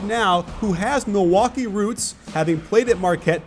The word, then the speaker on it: Milwaukee: understands exactly what Milwaukee stands for actually it's pronounced Milwaukee which is Algonquin for the good land I